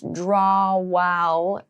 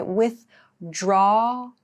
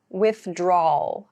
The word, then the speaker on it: withdrawal: So, the pronunciation here, with is the same as with, like do something with someone. This part is a little bit of a challenge, maybe. So, we don't clearly pronounce draw wall like that. We say with drawl, withdrawal, withdrawal is how we say this word.